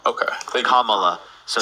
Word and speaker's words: Kamala: Kamala. Kalama? Okay. Thank you. Kamala.